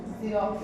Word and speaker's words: Xerox: इसके बाद होगा X for Xerox, XEROX, Xerox। इसको लिखेंगे X से, लेकिन इसको जब प्रोनाउंस करेंगे उसको बोलेंगे Xerox, ठीक है।